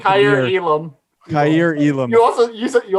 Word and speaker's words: Kaiir Elam: And how do you pronounce that? Kaiir. I thought he said Kaiir Elam. Kaiir Elam.